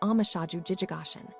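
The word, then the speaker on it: 応無所住而生其心: Engender the mind with no place to abide in our sino, Japanese way of writing. This is pronounced amashaju jijigashin.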